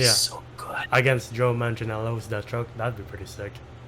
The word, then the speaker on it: Manganiello: Against Joe Manganiello's Deathstroke, that'd be pretty sick. How do you pronounce his name?